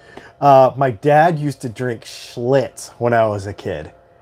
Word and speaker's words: Schlitz: But my dad used to drink Schlitz. I'll never forget that. It was so nasty. Ugh. So nasty. It rhymes with what it gives you.